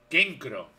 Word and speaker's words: Kenkro: Kenkro se pronuncia. Kenkro. ¿Y por qué se escribe...? Canecro. Lo pronuncian Kenkro.